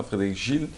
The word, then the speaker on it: Frédéric Gilles: C'est comme ça qu'on prononce, hein, Frédéric Gilles.